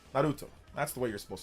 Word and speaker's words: Naruto: I pronounce it the way that's supposed to be pronounced. Naruto. That's the way you're supposed to pronounce it. It's not Naruto. It's pronounced Naruto.